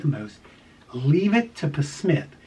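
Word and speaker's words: Psmith: Leave It to Smith. It's Leave It to Smith, but the P is silent.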